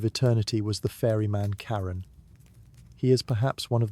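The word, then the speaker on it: Charon: Even if you've never quite been sure how to pronounce his name, it's Caillun, for the record, though he doesn't seem the type to correct you.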